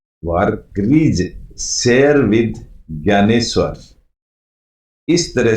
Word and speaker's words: ज्ञानेश्वर: अब ये ज्ञानेश्वर, इनकी स्पेलिंग DNY होती है, लेकिन बोला जाता है ज्ञानेश्वर।